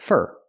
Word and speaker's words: for: Remember, use for, pronounce it fur after thank you.